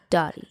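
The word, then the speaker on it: Doti: Her name is Dottie by Francis, but low-key people always think it's called Do It by Francis.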